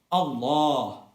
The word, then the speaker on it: Allah: So the more accurate spelling is ALLAAH, and the more accurate recitation is Allah. The A sound is pronounced with two harakat and cannot be shortened to one harakat.